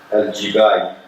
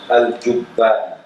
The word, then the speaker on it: al-Jubba'i: second phase of Mu'tazila, al-Jibali, al-Jubba'i, actually. It should be pronounced al-Jubba'i.